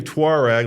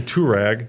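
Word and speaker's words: Touareg: You say Tuareg like the British. I say Turag.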